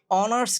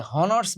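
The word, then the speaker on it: honours: My brother is অনার্স graduate. তাহলে হনার্স বলে নাই কিন্তু। যেহেতু হনার্স বলে নাই এই ও থেকে যেহেতু শুরু হইছে।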